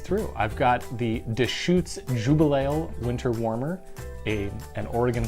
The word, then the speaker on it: Jubelale: tonight is the Deschutes Jubal ale or as I like to call it the Jubal wale which is not the right way to say it they call it a